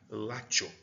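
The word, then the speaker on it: Latium: É que a pronúncia do Z e do C também no latim ele tem esse som de t, então seria látio, certo?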